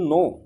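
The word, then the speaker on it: know: पूछेंगे हाउ डू यू नो मी हाउ डू यू नो मी हाउ डू यू नो मी यहां जो नो है के एन ओ डब् यहां के साइलेंट वर्ड है इसको नो ही बोलना है हाउ डू यू नो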